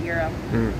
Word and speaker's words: gyro: Gyro special, or is it gyro or euro? I don't know. I pronounce it gyro, but some people pronounce it euro. Okay. Yeah, I don't know. I hear it two different ways.